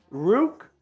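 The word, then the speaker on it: Ruke: I'm telling you all, I could have it wrong, but the pronunciation guide I see for Rook is quite literally Rook O-Ro-Ro-Ro.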